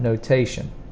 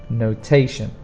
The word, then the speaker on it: notation: The spelling is T-I-O-N, but the pronunciation is a sh sound, notation, notation. And also remember the stress is on the second sound, not on the last sound. Notation, notation.